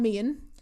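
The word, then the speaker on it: Meighan: And obviously, I think before even getting into it, we need to talk about Tom Meehan. That is how you pronounce his name, apparently.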